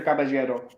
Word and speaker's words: Caballero: Peter Caballero, as a Puerto Rican pronunciation.